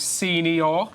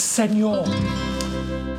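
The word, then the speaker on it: señor: Check you out, senior. Actually, David, it's senor.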